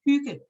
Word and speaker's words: hygge: So yeah, that's just for my, and it's actually pronounced Hygge.